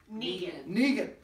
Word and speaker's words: Neegen: Neegen.